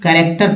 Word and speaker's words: character: उसके बाद क के लिए CA, CK, QE, जैसे कैरेक्टर पढ़ते हैं वर्ड, कैरेक्टर CHARACTER, कैरेक्टर।